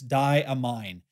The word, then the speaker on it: Diamine: in an earlier video the correct pronunciation is in fact diamine not diamine or diamine or damine or whatever it is I said in previous videos it is damine I know because I